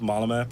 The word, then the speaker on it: Malmö: I was about to say that you just pronounced Malmö perfectly.